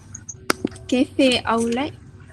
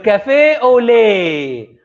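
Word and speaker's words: café au lait: um, cafe outlet. Very good. Cafe au lait. We don't pronounce the T.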